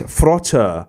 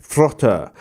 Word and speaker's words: Þróttur: at the beginning of the name is actually pronounced with a th so it's it's frother reykjavik frota so um yes that's basically what i've got